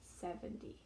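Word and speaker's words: seventy: d like dog okay the stress and the teen should be on the second syllable 17 or sorry in this case it's the final syllable i should say the final syllable because some teen numbers do have more than two final syllable okay 17 verses 70 70 not 70 70 okay 17 70.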